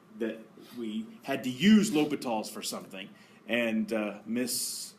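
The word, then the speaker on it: L'Hôpital: of my classes he made a big deal pronounced it correctly l'hopitals but there was one day that he was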